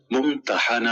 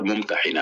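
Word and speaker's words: المُمتَحِنة: الممتحنہ رکھا گیا ہے۔ اس کا تلفظ ممتحنہ بھی کیا جاتا ہے اور ممتحنہ بھی۔ پہلے تلفظ کے لحاظ سے معنی ہے وہ عورت جس کا امتحان لیا جائے، اور دوسرے تلفظ کے لحاظ سے معنی ہے امتحان لینے والی صورت۔ اس میں دو ایسے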